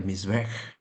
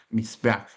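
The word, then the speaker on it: מזבח: Eh, bueno, así se pronuncia Misbej.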